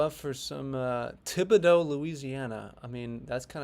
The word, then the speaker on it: Thibodaux: But we do have Thibodaux in Louisiana, and I know I said that right. I am great at pronunciation.